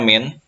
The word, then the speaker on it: mean: yaitu kalian akan membahas mean mean bacanya mint atau rata-rata Hai kemudian